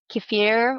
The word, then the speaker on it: kefir: Kefir or kefir, depending on where you're from, how you say it, is this yogurt drink